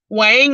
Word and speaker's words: Hoang: I can't sleep on baby Wang, and I am not, well, that's just the way it's pronounced. YouTube told me to pronounce it as wine, but you see it's spelled differently. So just letting you know.